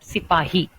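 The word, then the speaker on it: सिपाही: Sepoy was their way, their style of pronouncing the word, the Hindi word Sipahi.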